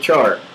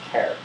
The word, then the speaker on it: char: there's boolean and care some people call it pronounce it char as far as i'm concerned charge of fish and the shortening of character is care so eight primitive data